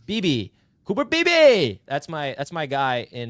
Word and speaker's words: Beebe: Beebe.